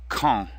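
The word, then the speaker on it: quand: kee call means when notice that the D is silent and the a n makes our nasal sound on so come it's really just two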